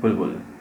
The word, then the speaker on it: बुलबुल: एंड इस movie का नाम बुलबुल है, बुल नहीं या बुल बबुल भी नहीं, बुलबुल। प्रोनाउंसिएशन के वक्त एक बी स्किप हो जाता है, लेकिन उसका इफेक्ट रह जाता है। सो बुलबुल।